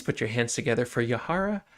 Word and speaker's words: Yahaira: Everyone, please put your hands together for Yahara.